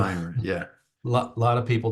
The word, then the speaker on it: Ayn Rand: have been written by Ayn Rand, but and I realize I pronounced it incorrectly. It's no, Ayn Rand.